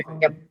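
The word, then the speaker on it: entrée: एक जगह होता है entre, प्रवेश करना है, ऑन्ट्रे entre, तो उसकी स्पेलिंग होती है ENTREE, entre, entre, राइट?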